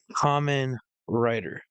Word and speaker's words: Kamen Rider: Kamen Rider.